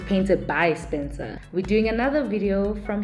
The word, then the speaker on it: PaintedBySpencer: favorite painted by Spencer I kept on saying paint by Spencer and I'm sorry for mispronouncing his handle his name on his YouTube channel YouTube channel it's painted by Spencer we're doing another video